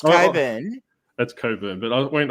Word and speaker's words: Cockburn: I was about to say Coburn. Get ready. I was going to say because I knew that you wouldn't put it there if it was actually pronounced Cockburn.